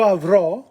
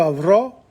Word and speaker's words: avrò: So, io avrò, in Italian, tu avrai, lui, lei avrà. Notice the accent on the O and the I again.